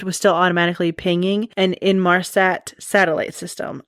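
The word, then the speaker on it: Inmarsat: still automatically pinging and in Marsat satellite system. I might have pronounced that wrong, but it's I N M A R SAT.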